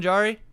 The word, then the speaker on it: Jarry: well actually i know what how do you pronounce this is it jari is that or is that yeah sorry tristan jarry jarry is a dumpster fire i was gonna